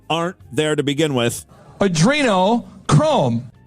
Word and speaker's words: adrenochrome: there to begin with adreno chrome he even has to mispronounce the word to get this to fit right adrino Chrome it's a Arduino Arduino Chrome real in reality but uh so adrenochrome